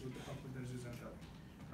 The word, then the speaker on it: zooxanthellae: And they do photosynthesis with the help of the zooxanthellae, the dinoflagellates living inside of them.